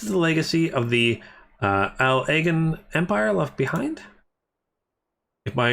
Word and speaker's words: Allagan: Oh, so I should say it in one thing without pauses, like the separate words. So Allagan, like that. More like that, Allagan.